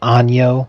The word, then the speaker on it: año: with year in Spanish, which is año with the little squiggly over the N. And when people don't pronounce it with the accentation, they just pronounce it like they're reading it and just go ano. So like año means year, ano means anus.